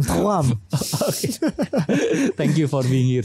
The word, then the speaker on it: Thuram: R-nya kan gitu kan, Thuram.